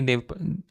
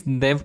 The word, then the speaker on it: Dev: is what I'm saying with a slightly longer D you don't want this you want de you're calling Da okay Dave is not right no okay fine